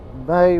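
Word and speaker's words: Mahy: It's actually called May Moblies, and it's spelled M-A-H-Y, Moblies.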